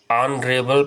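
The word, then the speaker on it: honourable: तो ऑनरेबल यानी इसको हम एच साइलेंट होता है, ऑनरेबल पढ़ते हैं.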